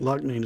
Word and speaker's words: Loughnane: I think Loughnane is what they were saying on the album. So I think that's how its name is actually pronounced.